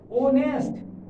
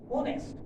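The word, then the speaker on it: honest: इसका प्रोनाउंसिएशन क्या है, ओनेस्ट, it means O wall sound, ओनेस्ट।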